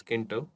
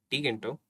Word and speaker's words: Tkinter: be equal to hello learners and welcome to Tkinter tutorial. And by the way guys, some people call it as Kinter, I call it as Tkinter, and many call it as TK Inter.